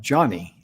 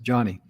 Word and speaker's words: Joni: she pronounced her name pronounces like johnny that's why she pronounced it joni it's j-o-n-i should pronounce it johnny her father participated in